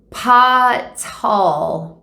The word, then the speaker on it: Paa Taal: going to be visiting potts tall that's how we pronounce it i don't know